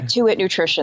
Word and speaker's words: Tuit Nutrition: How do you pronounce this? Tuit Nutrition? Oh, yeah, Tuit Nutrition.